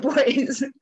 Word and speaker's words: Du Bois: know i've learned a lot from um w.e.b the boys i never really know how to say it boys um like in terms of reconstruction and his